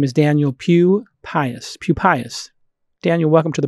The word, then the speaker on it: Pupius: His name is Daniel Pupius.